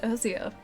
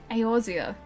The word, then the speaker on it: Eorzea: It's pronounced Eorzea? Really? I've always pronounced Erzea. Eorzea.